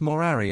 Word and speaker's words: morari: For he used to say by way of jest that he had ceased morari amongst men, pronouncing the first syllable long, and treated as null many of his decrees and ordinances, as made by a doting old blockhead.